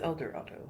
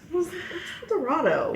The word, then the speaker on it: El Dorado: y but everyone said elor I know it's El Dorado I think am I wrong no it's spelled El Dorado right El Dorado yeah is this just a bunch of people